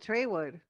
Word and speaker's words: Trawood: name, a street called, well, it's spelled Trawood, but people call it Traywood. And it's not like if you ask anybody, they'll be like, "Oh yeah, by Traywood," and you're like, Yeah,